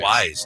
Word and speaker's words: Wiz: It's actually Wise, too. Wise. Wiz, Khalifa. short for Wizard, is...